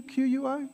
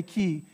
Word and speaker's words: qui: pronounced like this yeah a lot of my students who study spanish would want to say key but it's qui qui there's a q-u-i so kind of that that ui becomes that w sound